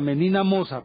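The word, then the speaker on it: Menina Moça: Se llama Menina Moca, o sea, Menina Moza.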